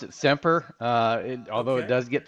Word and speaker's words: SEMPRE: Well, thank you, and we pronounce it SEMPRE, although it does get pronounced SEMPRE quite often.